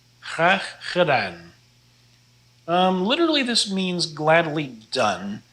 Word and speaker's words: graag gedaan: Here's a good way to practice your G's. This is pronounced graag gedaan. Graag gedaan.